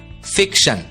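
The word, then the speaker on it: fiction: टी आई ओ एन ध्यान दीजिए टी आई ओ एन की आवाज होती है शन और इसलिए एफ आई सी टी आई ओ एन का उच्चारण होगा फिक श फिक्शन अगला शब्द देखते हैं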